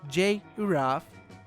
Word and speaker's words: giraffe: proper pronunciation of giraffe which we all know is pronounced J raff with J even though it's belt with G what this page fiendishly